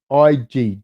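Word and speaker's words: Ige: egyptian surfer dan oge last name is pronounced ig japanese probably ig okay i will say that ig i've actually met that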